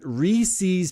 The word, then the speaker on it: Reese's: peanut butter those aren't Reese's Pieces they're Reese's Pieces the word is pieces what rhymes with pieces Reeses so that's how you know how to say this word Rees pieces